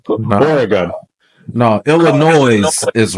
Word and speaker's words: Illinois: No, Illinois is wrong. If you pronounce the S, you completely wrong.